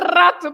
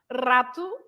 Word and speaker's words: rato: So rato, for example. So the R's at the beginning, like rua, for example, right?